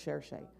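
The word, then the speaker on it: Saoirse: It's pronounced Cherche, the Irish lady who plays Louisa May Alcott.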